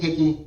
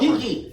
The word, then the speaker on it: Kiki: I do think Hickey, it's Hickey, right? H-I-C-K-Y? No, Kiki, like Spell it. Kiki. You Yeah. already spelled it for me. Kiki. K-I-K-I. Yeah.